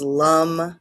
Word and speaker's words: lam: And so um and so we have the root chakra um lam but it's pronounced lum.